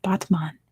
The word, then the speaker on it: Batman: It's spelled like Batman. It's pronounced Batman, and it is in Turkey.